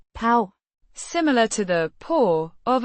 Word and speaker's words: på: Pronounced. pav, Similar to the paw of an animal.